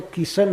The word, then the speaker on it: कृष्ण: नंद बाबा ने सुना कृष्ण शब्द कहने में थड़ा पटा लगता है महामंत्र भी जपते हैं तो राम राम तो ठीक से उच्चारण होता है कृष्ण किन किन किन क पार कर कोई कोई लसे जप करते साफ है नाम का उच्चारण करना कठिन होता है कई लोग ऐसे करते किस किस किस किस भी कर देते हैं पंजाबी लोग तो किशन ही कहते हैं किशन कृष्ण नहीं कहते ब्रजवासी सुने कृष्ण नंद